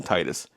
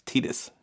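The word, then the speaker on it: Tidus: And yes, it's pronounced Tetus. People, including myself when I was younger, I called him Titus. It's Tetus is his name.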